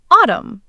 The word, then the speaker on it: autumn: the N stays in, meaning it stays silent in the word. Ah, what a beautiful time. I like that. So, autumn. Give it a go, Minu. Let's hear that silent N.